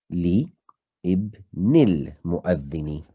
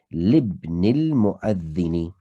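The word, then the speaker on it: لِابْنِ الْمُؤَذِّنِ: to a kasra, hence li ibnil mu'adhini. However, we know ibn has a hamzatul wasl, so you shouldn't pronounce the alif when there's a word joining it prior to it. So libnil mu'adhini, is this bicycle belonging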